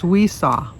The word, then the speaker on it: Wessia: And last but not least, and she told me how to pronounce it because the spelling is Wessia, and you pronounce it as Weesaw. WEE-SA. Weesaw.